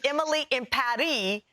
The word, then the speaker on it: Emily in Paris: my favorite shows yesterday netflix tweeted out that we're all pronouncing it wrong they say it's emily impari is it emily in